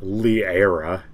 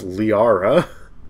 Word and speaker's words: Liara: that really necessary Shephard why did Shephard pronounce her name as liera it's Liara the hell the GU